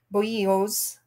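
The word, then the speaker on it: bolillo: favorite vendor that sells boyos b-o-l-l-i-l-o is how it's spelled uh but it's pronounced their double l's are pronounced like y's so we bought some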